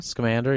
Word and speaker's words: Scamander: Scamander. Scamander, yeah.